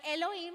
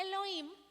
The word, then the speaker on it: Elohim: O sea, está el significado que es creador, pero Elohim se escribe E-L-O-H-I-M, o sea, como si fuera Elohim, pero con H.